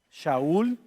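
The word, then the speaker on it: שאול: Entonces llegamos al apóstol Pablo, que originalmente su nombre era hebreo y se pronuncia, por cierto, Shaul.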